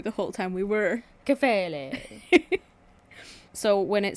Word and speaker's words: Kephalē: in this, again, the Greek word here is Kephalē. Nice pronunciation. Thank you. It's like you listened to a video right before we started shooting. Well, I listened to you the whole time we were. Kephalē.